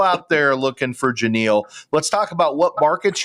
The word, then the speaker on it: Genile: Just think Captain and Tennille and replace the T with the G.